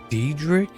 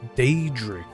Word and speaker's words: Daedric: They're not even saying it right. Daedric? It's Daedric.